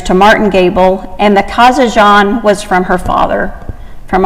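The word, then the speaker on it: Kazanjian: She dropped her family name when she became an actress because everyone would pronounce it as Katzenjammer, which was a popular comic strip at the time.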